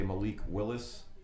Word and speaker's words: Malik Willis: I always say his name wrong. I'm going to say Malik Willis.